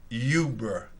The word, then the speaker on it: Uber: go ahead uh I'm going to try to pronounce it's a very simple word Yuber good or bad for the city of Manchester